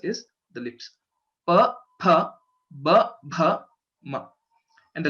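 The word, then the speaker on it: फ: So a few people pronounce this letter, the second letter in Pavarga, as fa. Okay, but the right pronunciation is pha because both our lips should come together.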